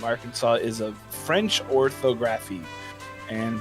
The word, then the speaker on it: Arkansas: thing that's right so there's an s and you don't pronounce it or you do and